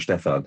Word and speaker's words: Stefan: And I love it how you pronounce the Stefan. It's actually exactly right. If you come from the north of Germany, then it's a Stefan, because everything is zzz.